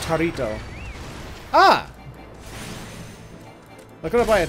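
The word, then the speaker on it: Jarritos: Mexican soda, pronounced Jarito.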